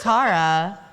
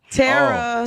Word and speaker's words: Tera: like your outfit Tera I thought it was Tara Tera speaking of my name